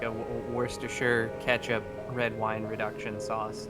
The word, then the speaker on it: Worcestershire: It's like a Worcestershire ketchup red wine reduction sauce. It's pretty good. I love that you pronounce Worcestershire correctly.